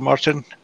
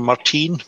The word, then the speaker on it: Marcin: you that were wondering how to say my name it's more easy for you to see say Marcin XT Martin instead of Marteen Marteen is not correct so there was a